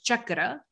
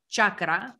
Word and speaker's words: chakra: chakra by the way it's pronounced as chakra not chakra or chakra like i'm gonna keep